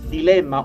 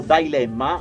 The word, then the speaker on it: Dilemma: Beh, c'è una che si chiama Dilemma o Dilemma, è appunto pronunciato all'americana, dove lui parla, diciamo,